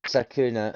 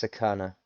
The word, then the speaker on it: sakana: I said sakuna and it's sakana, the fish.